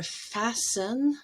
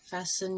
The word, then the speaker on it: fasten: english so there are some words where t is always silent s-t-e-n toward the end of a word like listen or fasten fasten your seat belt hasten and christen